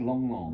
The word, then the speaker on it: Lang Lang: I'm going out next week to conduct a show with Lang Lang, the classical pianist. You know who Oh. he is? You pronounce it Long Long.